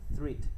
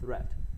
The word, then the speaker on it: threat: Rất nhiều người đọc là threat nhưng không phải, đọc là threat, mối đe dọa.